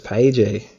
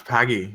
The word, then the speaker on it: Pagey: send you the link I always thought it was pay my bad no it's paggy no yeah Oh I